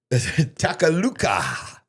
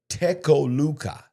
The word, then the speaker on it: Tecoluca: Takaluka. I said a while ago, I said Takaluka, but it is Tecoluca.